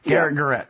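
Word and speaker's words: Garet Garrett: as ex America by is it Garrett Garrett you pronounce both the same even though oh they they are pronounced different and spelled different gar gett there you go so will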